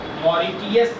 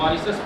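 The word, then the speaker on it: Mauritius: मॉरिशस का, मॉरिटियस लिखा जाता है स्पेलिंग, मॉरिशस पढ़ते हैं।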